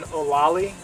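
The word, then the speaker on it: Olallie: It's called an Olali.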